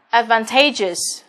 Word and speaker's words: advantageous: Và advantageous là trọng âm rơi vào âm 3. Đó, trước đuôi us.